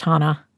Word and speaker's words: Hanna: future Hannah oh boy my name is pronounced Hana Hana you should know that